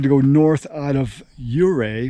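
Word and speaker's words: Ouray: go north out of euray which is pronounced i thought it was already uh i guess he was an indian chief's name yuray um i went about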